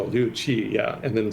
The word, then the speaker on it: Liu Qi: And the Q is pronounced as a basically CH. So Chua. Luchi. Oh, Liu Qi, yeah.